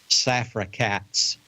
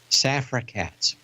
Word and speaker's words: Safra Catz: of the stock market, Safra Catz. It's like one word, isn't it? Anytime you have a first and last name that can be pronounced as a single word, I think that's Safra Catz.